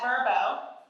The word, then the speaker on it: Vrbo: She is product marketer at Verbo.